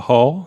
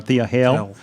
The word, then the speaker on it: Thea Hale: You can say Thea Hall. You can say Hale. I'm sorry, I'm saying it wrong. Thea Hale.